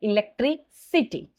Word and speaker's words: electricity: So electric, the K sound converted into the S sound like electricity.